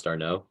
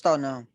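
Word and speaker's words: d'Arnaud: Travis Durant. I don't know how to pronounce his last name, Tommy. Travis the catcher, Travis Darno. Travis Darno.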